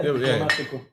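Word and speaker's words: Diplomático: I pronounced it right, right? Yeah, Diplomatico.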